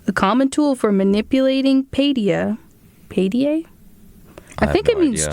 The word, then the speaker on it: paideia: So, it's paideia, is how it's pronounced, and is an ancient Greek term for